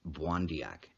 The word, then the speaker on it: Pontiac: An instance of this is found in the history of the life of Pontiac, pronounced Bwandiac, the Ojibwe or Chippewa chief of St.